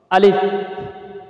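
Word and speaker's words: ا: আলিফ, আলিফ, সবাই বলেন আলিফ। আলিফ উচ্চারণে সানায়া উল্যার দুই দাঁত। কোন দাঁত? সানায়া উল্যার দুই দাঁত নিচে ঠোঁটে লাগবে।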